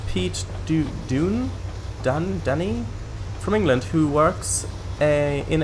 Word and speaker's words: Dunn: Is Dunny probably Dundee? But Dundee is in Scotland, isn't it? It's pronounced Dunn.